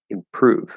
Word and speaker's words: improve: from the m improve but it's at the start of a stressed syllable it doesn't matter that the r is after it it's at the start of a stress syllable improve we want to hear improve